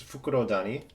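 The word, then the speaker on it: Fukurodani: It's Fukuro Dani.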